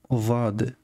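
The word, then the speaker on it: ظ: Donc on prononce Va. Alors en français, il n'y a pas d'équivalent. Ici, j'ai écrit un ZH, mais c'est vraiment très approximatif. Il n'y a pas de son va en français.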